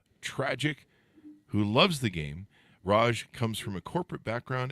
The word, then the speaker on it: Raj: Greater Heights welcome the show how are you Raj thanks Chris thank you for having me thank